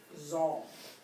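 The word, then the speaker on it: czar: himself he has himself crowned Z now here it's spelled CZ a r sometimes you'll see it spelled TS a r it's the same word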